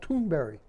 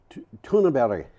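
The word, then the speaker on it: Thunberg: it's like four syllables toonberg is tunabella okay and it's like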